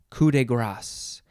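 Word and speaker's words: coup de grâce: whoop next word is coup de grace cou de grace it is three words c-o-u-p second word d-e third word g-r-a-c-e looks like grace it's pronounced grass and you can have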